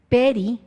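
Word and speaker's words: פרי: Y esta palabra que se pronuncia peri, significa tres diferentes cosas.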